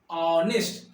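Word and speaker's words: honest: नेस्ट बोलते हैं क्या नहीं क्या बोलते हैं ऑनेस्ट क्या बोलते हैं ऑनेस्ट लिखा हुआ है नेस्ट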